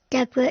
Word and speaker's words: DEBRA: Deborah is spelled D E B R A if anybody wants to have a look.